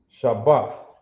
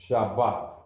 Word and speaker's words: Shabbat: It is pronounced sha, bath. Shabbath. Shabbat. You got it? Shabbat.